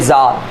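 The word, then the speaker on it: czar: बाहर के राजाओं को किंग की जगह जार भी बोला जाता है और इसका प्रोनाउंसिएशन है जार, जेड, ठीक है।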